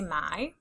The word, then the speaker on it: my: Say my. This is the sight word my. The Y is making the I sound.